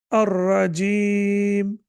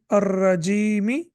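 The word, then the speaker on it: الرجيم: And you can prolong it up to 4 seconds. Ar-Rajim. Rule number 10. Kasra will not be pronounced in case of stop. Waqf. Now we can see that there is a kasra over here, but when we stop, it will not be pronounced. So if you continue, then it will be ar-rajimi, and then after that,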